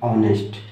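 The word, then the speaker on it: honest: आप लेटर को मत ना देखो, आप इसको देखो ना कि इसका उच्चारण क्या है और उच्चारण का फर्स्ट लेटर क्या है। तो इसको पढ़ते हैं ऑनेस्ट, ठीक है, ऑनेस्ट, ऑनेस्ट मैन।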